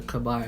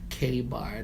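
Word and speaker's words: KA-BAR: I don't know if y'all know what a kabar is or K-bar. That's what I think some people pronounce it.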